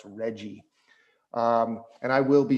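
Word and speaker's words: RGGI: regional greenhouse gas initiative which we pronounce reggie.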